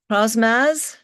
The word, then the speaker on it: Crosmaz: Uh, Crosmaz, did I pronounce that correctly?